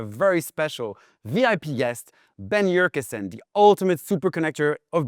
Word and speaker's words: Yurcisin: We've got a very special VIP guest, Ben Urkusen, the ultimate super connector of Brooklyn.